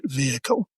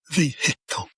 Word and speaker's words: vehicle: It's another word the Americans can't say in vehicle. They have to put it into three syllables. Vehicle.